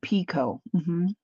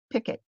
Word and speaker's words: picot: But if you look it up, they also pronounce it in America, picket.